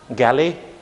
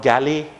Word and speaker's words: Galle: And the pronunciation of this term is not galley, but it's gall. Okay, it's like the sound in a ball. You would say like gall, ball.